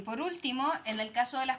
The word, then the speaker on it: último: Tiene dos sílabas después que no tienen acentuación. Y último, ¿ya?